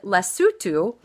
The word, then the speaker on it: Lesotho: here that is spelled it looks like Lesotho but it's said less sue too so we drew a